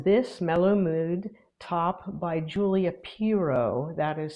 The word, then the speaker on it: Piro: My most recently finished project was this MellowMood top by Julia Piro. that is spelled P I R O.